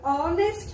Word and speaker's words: honest: which is the sound here oh we say honest man we do not say holiest man we